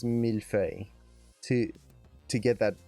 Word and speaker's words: millefeuille: sound in there, because it seems like it's not that hard, millefeuille. But then when you try to actually make the sounds, there's like a little lilt in there that's very slight, but most people can't quite get if you haven't spoken a French-like language before.